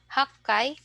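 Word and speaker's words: 八階: So let's try to pronounce from 1 to 10. Ikkai, nikai, sangai, yonkai, gokai, rokkai, nanakai, hakkai, kyukai, and jukkai.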